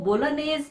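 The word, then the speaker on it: Bolognese: Italian dish है और इसके सॉस को बोलोनेस प्रोनाउंस किया जाता है जी इसका साइलेंट होता है और इसमें बहुत ज्यादा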